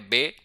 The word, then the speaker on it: B: उसके बाद हम देखते हैं सेकंड पे है बे। बी को हम जर्मन में पढ़ेंगे बे। और इसकी साउंड वही रहेगी जो इंग्लिश में होती है।